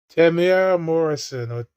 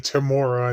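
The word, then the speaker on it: Temuera Morrison: Tamara Morrison. That's how you pronounce his name, by the way. Everyone's been saying Tamora and it's Tamara.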